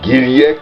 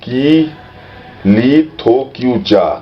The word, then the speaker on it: Giriyak: So this is Giriyak mountain. Giriyak mountain, what Zhang mispronounces as Ki-li-tho-kiu-cha. Giriyak, Ki-li-tho-kiu-cha.